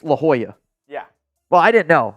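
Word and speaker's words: La Jolla: and I'm like I was like lalia beach like what is lalia Beach it's La Hoya yeah well I didn't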